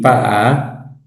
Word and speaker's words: Pa'a: Anaki, Pa'a, así suena, así se escribe Pa'a. Mm, Boca larga, saltillo ya. Hay una oclusión.